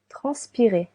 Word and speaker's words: transpirer: Transpirer. Transpirer. To sweat. You can hear 3 syllables. Trans, pi, re.